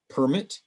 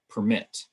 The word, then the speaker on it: permit: different stress patterns so we have permit and permit present and present and same thing with conflict and conflict in english generally when